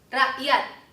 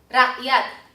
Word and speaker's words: rakyat: rakyat, rakyat, 好，下面这个例子